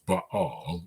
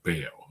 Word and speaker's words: Baal: And the worship of Baal, now I know the right way to pronounce it is Baal, but in English we usually just say Baal, okay?